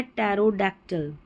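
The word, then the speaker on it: pterodactyl: फिर है यह है टैरो डैक्टिल। क्या है? टैरो। इस तरीके से पढ़े। टैरो फिर डैक और इसको टिल। तीन टुकड़ों में इसको पढ़ेंगे तो समझ में आएगा। टैरो डैक्टिल। टैरोडक्टिल।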